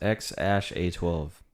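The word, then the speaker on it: X Æ A-12: dash 12 yep um it's pronounced x ash a12 x asha 12 x actually 12.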